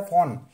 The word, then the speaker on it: fawn: Stag, Stag के बच्चे को फॉन बोलते हैं, FAWN, डब्ल्यू साइलेंट होता है, फॉन।